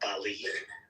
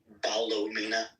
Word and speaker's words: Ballymena: pronounced like Ballo, not Bali. So it's like Ballymena.